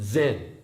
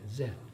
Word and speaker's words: Zen: And then it became song in Korean, and zen, that's how it's pronounced in Japan, zen.